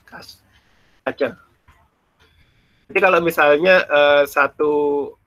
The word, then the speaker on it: cache: Bacanya bukan caching, cache.